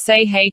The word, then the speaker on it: Sahay: mid-range one african village near sahay pronounced say hey hotel it offers traditional